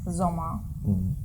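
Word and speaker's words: Sommer: always shh and then summer in german zoma zoma zoma yeah summer is zoma so you see sometimes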